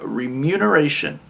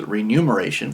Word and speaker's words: remuneration: the last one 113 remuneration which i've always pronounced as renumeration because num number it's like numerology renumeration it's remuneration is to repay somebody for